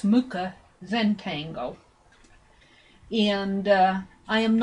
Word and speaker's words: Mucha: it's the Mah m u c h it's pronounced Mah Zentangle and uh I am not a Zentangle